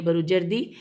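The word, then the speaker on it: بروجردی: कि सरकार आका ए बरु जर्दी बेरे वाव जीम रे दे दाल छोटी है बरु जर्दी और यहां पर जहां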